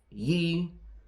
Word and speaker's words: ye: see that long f you will see a y in places where a th should be so you would see um D um ye um he old um barn or Ye Old something it's not a y it's a th it's a thorn now that's interesting because